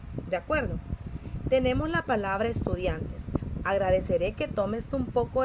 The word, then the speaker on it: estudiante: Dian, esta es la sílaba tónica, excelente.